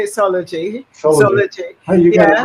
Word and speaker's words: Soulogy: Soulogy.